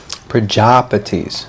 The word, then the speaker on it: Prajapati: The Praja is long A, so that means Prajapati, not Praja. It's not Praja, it's Praja. Pati.